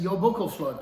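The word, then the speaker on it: Jólabókaflóð: your buckle fluff yes yo boko flood i believe that's how you're supposed to pronounce it but you know it's icelandic local flood is a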